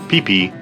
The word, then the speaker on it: Phi Phi: Phi Phi, yes, spelled like Phi Phi, but pronounced Phi Phi, is an amazing place.